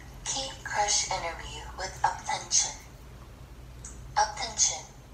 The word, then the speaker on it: UP10TION: UP10TION, pronounced UP10TION, is a Korean boy group formed by TOP Media.